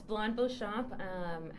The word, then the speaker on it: Blonde Beauchamp: Good job at pronouncing my name. Yes, Blonde Beauchamp.